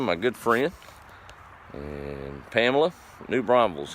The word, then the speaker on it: New Braunfels: See, I even said it right. There's no S after the N. You can tell who's been there before, can't you? It's New Braunfels. It's not New Braunfels.